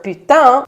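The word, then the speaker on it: Putin: began on February 24th Mr putang and yes there is a reason I'm pronouncing his name in a French accent my french-speaking buddies will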